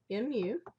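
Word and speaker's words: μ: be the Greek letter me so that is pronounced mu let me put quotations around this up here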